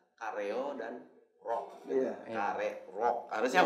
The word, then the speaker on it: Karerok: Kare rock. Harusnya bacanya kare rock.